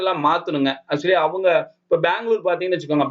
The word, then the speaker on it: பெங்களூரு: Actually அவங்க இப்ப பெங்களூர் பாத்தீங்கன்னு வச்சுக்கோங்க. பெங்களூர் அப்படின்றத பெங்களூரு. அவங்க கன்னட மொழியில அதை எப்படி உச்சரிப்பாங்களோ அதுக்கு தகுந்த மாதிரி மாத்திருக்காங்க. நியாயப்படி அது சரிங்க.